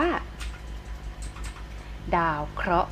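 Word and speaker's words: ดาวเคราะห์: ลอง คิด สิ คะ หอ หีบ การันต์ ไม่ อาจ ออก เสีย เรา จะ อ่าน ว่า ดาว เคราะห์ นั้น เอง นะ คะ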